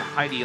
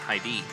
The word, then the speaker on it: Heidi: Been told that it's not Heidi like the girl's name, it's Heidi. Put the emphasis on the other syllable.